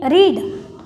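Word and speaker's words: read: रेड, जिसे spelling तो same रहती है रीड, लेकिन इसका भी स्पेलिंग सेम है, लेकिन इसका जो प्रोनाउंस हम कर रहे हैं वो रेड कर रहे हैं।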